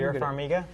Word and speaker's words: Vera Farmiga: Pronounce that for me. Vera Farmiga.